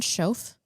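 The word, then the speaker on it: Schoof: Dick Schoaf? Is that how you say it, Cameron? Schoaf? I think it's Scoof. Scoof. As far as I'm concerned. Because it's the Dutch pronunciation is a little different than German.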